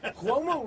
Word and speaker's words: Cuomo: Cuomo rhymes with Como.